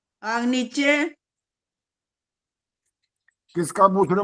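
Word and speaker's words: आग्नीध्र: लिखा है चेक करो अ आ की मात्रा हो गया आगे है ग आधा इसके बाद है न न में बड़ी की मात्रा आगे है ध और ध के नीचे र बनता है जो ध्र अग्नि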